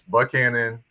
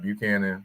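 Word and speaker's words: Buchanan: in Nashville and uh it's bu Canon not Buchanon deum not demon Bruin and it's Riley not really so I just want to kind of throw that out there for those F that don't know Nashville lingo just gonna get to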